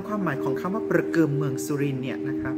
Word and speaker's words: ประเกือม: สุรินทร์ ที่ ใช้ เรียก เครื่อง เงิน นี้ ว่า ประกิม นะ คะ หรือ ประคำ ที่ ที่ ใช้ สำหรับ